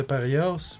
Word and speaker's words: parias: Classe de Parias, professeur à tête de poule. Je pense que ça, c'est paria. Tu dis pour prononces pas le S.